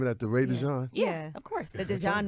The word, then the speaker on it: DeJon: So people say DeJean because it's DeJean. spelled that way, but it's Oh, that's why you DeJon. changed the spelling. That's right. That's why I changed it to Jon. So we people can at pronounce it least correctly. say it somewhere close to what it's supposed to be.